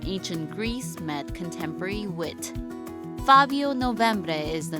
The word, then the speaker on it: Fabio Novembre: I love saying that name, Fabio Novembre. Thank you, Minja. Thank you. You pronounce it quite good, I must say.